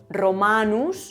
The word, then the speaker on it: Romanus: Por ejemplo, Romanus, la segunda sílaba termina en vocal larga, que es esa A.